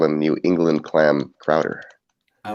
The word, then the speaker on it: Crowder: It's pronounced Crowder.